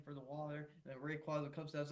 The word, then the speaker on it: Rayquaza: Rayquaza. There's a debate of how its name is actually supposed to be pronounced because for a long time, I've always pronounced it as Rayquaza, but I Hmm.